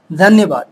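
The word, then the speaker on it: धन्यवाद: Thank you for watching this video, dhanyabad.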